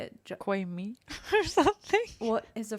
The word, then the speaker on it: Jacquemus: Jacquemus or something. What is a French name, right? Jacquemus, something like that. Right? Jacquemus. It's a nice Jacques Cousteau. It's literally like Jacquemus or something. Yeah. Jacquemus?